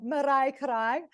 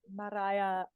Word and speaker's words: Mariah: I can never say it the way he says it, because he says Mariah Carey. Mariah. It's like Maria Carey.